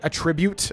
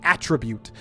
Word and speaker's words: attribute: Man, remember when I used to say attribute? I used to say that all the time back in the day. It took me forever to switch it to the correct pronunciation, which is attribute.